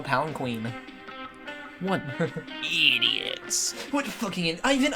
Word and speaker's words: palanquin: Do you have a planking prepared for me? Palanquin. They spelled it wrong. Yeah, isn't like It's spelled with a Q?